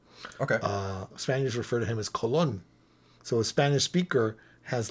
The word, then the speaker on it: Colón: So, Colón. Cristóbal Colón. That's how you say it in Spanish.